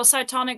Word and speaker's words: Cytonic: if you're being technical cytonic is written with a c not with an s well yeah i think it would have been this i've never actually seen it spell that no it's c-y-t-o-n-i-c fair enough but it's an s sound so yeah so he